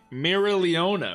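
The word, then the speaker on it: Mereoleona: when she talks okay mira leona mira it's so hard to say her name so i'm assuming they don't pronounce the o too heavy in her name and i'm not gonna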